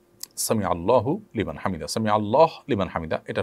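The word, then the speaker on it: سمع الله لمن حمده: ফেলেছেন দেখুন সামি আল্লাহু সামি আল্লাহু লিমান হামিদা এটি হলো শব্দের সঠিক উচ্চারণ সামি আল্লাহু লিমান হামিদা সামি আল্লাহু লিমান হামিদা এটা সঠিক উচ্চারণ নয় থামতে হবে সেখানেই যেখানে মানুষ ওয়াকফ করবে ওয়াকফ না করলে সেখানে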